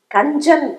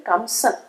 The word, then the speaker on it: கஞ்சன்: கஞ்சன் அப்படிங்கிறது கம்சன். தமிழ்ல சில வார்த்தைகள்லாம் என்ன ஆகும்னா தொல்காப்பிய விதிப்படி அந்த வடமொழி உச்சரிப்பிலேருந்து தமிழ் உச்சரிப்புக்கு மாறும்.